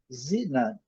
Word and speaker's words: xenon: A segunda palavra, nós falamos xenon, eles falam zinan. Zinan. Zenan. Zenan. Eu creio que seja isso mesmo. Zenan. Nós colocamos a sílaba tônica na última e eles colocam aqui na primeira.